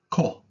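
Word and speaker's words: こ: of the ground k for Kevin Co is pronounced Co I've always seen this as two little worms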